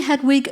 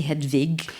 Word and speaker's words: Hedwig: sequel and can we do we say Hedwig you say hedvig I would say how do you say whatever you want okay because you